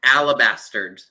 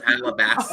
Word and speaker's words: alabaster: it was alabastard. When it was alabaster.